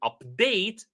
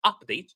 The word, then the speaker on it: update: And the hope was to update, not update, to update society for the better, right? So again, so when we have a word that we can divide for two or divide into two syllables, if it is a noun, we put the stress on the first syllable. If it is a verb, we put the stress on the second syllable.